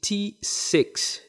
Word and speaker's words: Tsix: This XIC, this XIC center, this also secretes another factor, which is called the T6 gene.